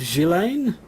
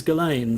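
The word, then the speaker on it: Ghislaine: last week is that i heard a person pronounced galen maxwell's name out loud i'd assumed gillane but um no everybody says galen so let's um let's go with galen so we're talking about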